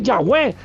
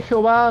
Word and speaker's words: Yahweh: Tienes que decir Yahweh. Con todo respeto. Y seguramente recibiré muchas críticas por esto. Pero es una convicción absoluta que tengo. Seguramente Jehová no es como se pronunciaba el nombre de Dios.